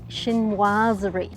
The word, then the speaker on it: Chinoiserie: It's pronounced shininoazeri.